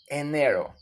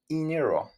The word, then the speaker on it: enero: the alphabet pronunciation okay ano remember it don't sound like inero the E it's called e Eno Eno with your